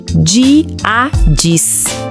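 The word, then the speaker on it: hendíadis: Pronúncia é diadis.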